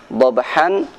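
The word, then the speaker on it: ضبحا: Setiap kali kita membaca tanwin fathah maka pada dasarnya harus dibaca fathah panjang. Sebagaimana bacaan wal 'adiyati dhabha, dhabhan dhabha.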